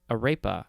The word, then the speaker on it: arepa: it now we have a rapa arepa i think that's how it's pronounced uh a a-r-e-p-a this is a noun from